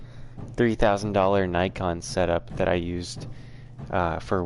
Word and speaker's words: Nikon: Yeah, I say Nikon, not Nikon. Nikon is like the British pronunciation. And Australian. I think it's American to say Nikon, because I think even Canadians say Nikon.